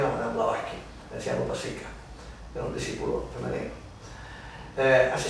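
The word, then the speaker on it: Upasika: ¿Cómo se escribe ese Upasica? Upasica, U-P-A-S-I-K-A.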